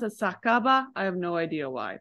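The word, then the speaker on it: 酒場: sake you would assume it's okay but actually pronounced a sakaba I have no idea why but you're right that is sake and ba but sakaba for some strange reason foreign to to to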